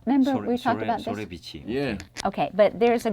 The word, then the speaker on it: 소래: 소래. Sorae.